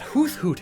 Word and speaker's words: Hoothoot: Also, I love that Hoothoot hat. Sorry, did you just pronounce the th in Hoothoot? That's disgusting.